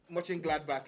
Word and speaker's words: Mönchengladbach: know how to pronounce It's- that thing It's Mönchengladbach.